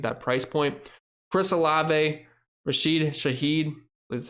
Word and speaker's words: Rashid Shaheed: Chris Olave, Rashid Shaheed, that's how you pronounce his name, and Michael Thomas.